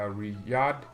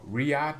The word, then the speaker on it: Riad: is even better and it is a riyadh oh riad just like maureez okay i guess the y is silent then isn't it um thiago